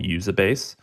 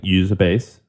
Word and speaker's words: Uzabase: I studied a Japanese company that I love called Usabase. And Usabase? What's it called? Yeah, it's a publicly traded company called Usabase. It's spelled Uzabase.